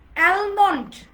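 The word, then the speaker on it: almond: L letter কোথায় কোথায় silent থাকে দেখেন। আমরা বলি অলমোস্ট, অলরেডি, রাইট? তারপর আমরা কি বলি? অলমোস্ট, already, অ্যালমন্ড, right?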